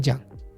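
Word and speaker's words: じゃん: Jang itu dari kata janai, tapi intonasinya itu diturunin, bukan naik. Kalau naik kan jadi pertanyaan. Ini intonasinya turun.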